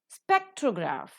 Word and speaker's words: spectrograph: Spectrograph, the first syllable is accented.